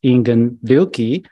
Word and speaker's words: Ingen: 350 death anniversary of zen master Japanese pronunciation is inan special ceremonies and the